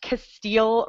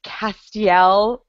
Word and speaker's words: Castiel: so that was fun that was apparently I pronounced Castile wrong it's Castiel you did you did that was the best